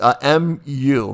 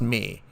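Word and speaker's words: μ: It's mu, mu, but it's pronounced me. Me, or sometimes I'll say mu or mu too, but it's actually pronounced M-E-E, me.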